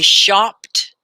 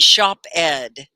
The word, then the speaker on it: shopped: Like I shopped. I didn't shop ed.